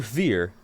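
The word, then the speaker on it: vier: When you hear fear, you think 4. You think F for 4. You don't think V. But apparently it's spelled V-I-E-R.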